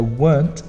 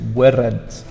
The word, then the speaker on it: weren't: So weren't is one sound only. Some people think it's two, weren't, but it's not, it's one. You weren't driving home at 6 p.m.